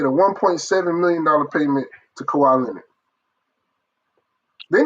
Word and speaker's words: Kawhi: Please, when we clip this up, and I say it correctly, Clipper Kawhi, to me, is one of the biggest busts in NBA history.